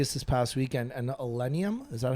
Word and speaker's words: Illenium: this past weekend and Illenium, is that how you pronounce it?